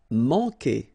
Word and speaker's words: manquer: Manquer. Okay, remember when we get this Q after that, automatically we get this U, but then we don't pronounce the U, okay?